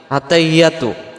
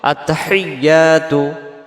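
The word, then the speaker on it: التحيات: এই শব্দটাতে আমরা কি ভুল করে ফেলি আমরাদের উচ্চারণে আত্তাহিয়াতু আত্তাহিয়াতু আত্তাহিয়াতু হা জের হি ইয়ার পরে তাসজিদ আসছে এই তাসজিদটা সহ আদায় করার জন্য বলতে হবে আত্তাহি এমন আওয়াজ হবে আত্তাহিয়াতু আত্তাহিয়াতু আত্তাহিয়াতু ইয়া অক্ষরটা আলিফ টান লিল্লাহি লিল্লাহি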